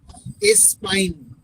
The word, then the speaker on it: Espagne: Germany का spelling ALLEMAGNE, all mine, स्पाइन।